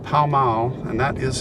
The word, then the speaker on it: Pall Mall: we're here today in a little town called pao mao and that is how it is pronounced and we are going to the grave